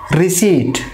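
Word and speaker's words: receipt: First যে ওয়ার্ডটা সেটাকে আমরা এভাবে প্রোনাউন্সিয়েশন এভাবে করব যে রিসিট, রিসিট। দ্যাট মিন্স এখানে পিটা সাইলেন্ট থাকবে, পি সাইলেন্ট, পি এর যে সাউন্ড সেটা সাইলেন্ট থাকবে, হবে রিসিট।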